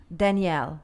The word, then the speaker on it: Daniel: and it's Omar Daniel, And we listened to a little bit of it. which he spelled out phonetically so that I could See? pronounce it in Spanish.